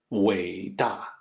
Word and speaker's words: 伟大: So the pinyin for that, 伟大.